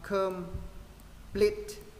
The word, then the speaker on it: complete: Và từ này trọng âm ở đằng sau, complete, complete. Đó, chữ ơ thứ hai cứng môi.